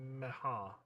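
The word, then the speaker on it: Meagher: and close friend of Mehar. I always say Meager. I know you tell me every time how to pronounce it.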